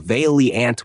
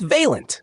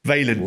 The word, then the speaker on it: Vaillant: It was people roasting James for saying "Vaileant" with an extra I. The thread basically turned into a pronunciation lesson. It's Vaillant. Vaillant.